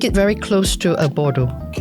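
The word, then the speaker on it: Bordeaux: So, Bordo, not Bordaux.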